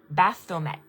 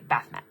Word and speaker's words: Baphomet: It's B A P H O M E T. Bathomet. But most of us just say batht batht.